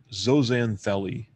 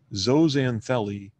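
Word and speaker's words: zooxanthellae: algae is generically called zanelli zanelli literally means a plant within an animal zo referring to to uh animal it's pronounced zo not Zoo if you will say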